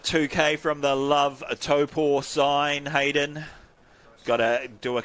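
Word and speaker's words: Taupō: the other day for helping me to figure out my pronunciation of Topo it's taken me a while after a lifetime of saying taupo it's it's one of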